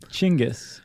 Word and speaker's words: Genghis: Do you pronounce it Dingus or Genghis or Chingus? Are you being serious? I know it's not Dingus, but I've also seen it spelled in a way that would suggest It's Genghis, you dingus. You pronounce it Chingus. Oh, really? I think I have heard that. Mm-hmm. But we're going to go with the general Genghis pronunciation, okay?